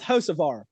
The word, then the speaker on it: Hocevar: When he says there's a car in the wall, he follows it up with Hocevar. If Dale Jr. can say, "Oh, we got a car in the wall, it's Carson Hocevar," then Jeff Burton can say it too.